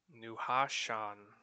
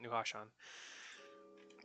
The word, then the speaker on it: Nuhashan: Nuhashan. Actually, it's easier to pronounce than I thought. Nuhashan.